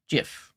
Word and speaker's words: GIF: hard G GIF GIF hard G GIF yes GIF is the proper way um I built websites